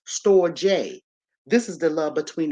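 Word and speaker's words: storge: type of Love okay then we got this storage s-t-o-r-g-e it's pronounced store J this is the love between the parent the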